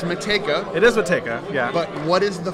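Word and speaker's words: Matejka: And Mateka is the way we pronounce it. But, you hear anything from Mateka to Mateka to Metajeka or Metajedika.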